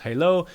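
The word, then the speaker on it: HaLow: Wi-Fi Halo, as mentioned, pronounced Halo, is a Wi-Fi wireless networking standard.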